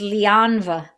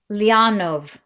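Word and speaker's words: leanbh: you pronounce this word it's l-e-a-n-b-h it's lianva no sorry lianov sounds Russian to me she says come on in lianov and lianov is Irish for baby it is also Irish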